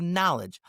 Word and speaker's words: knowledge: Not know, the opposite of yes, but know, to have knowledge. Knowledge also has a silent K.